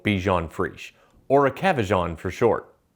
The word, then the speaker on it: Bichon Frise: Cavalier King Charles Spaniel Bichon Prichet. I can't pronounce it, but it's the cutest thing in the world. Actually, it's pronounced Cavalier King Charles Spaniel Bichon Frise, or a Cavajon for short.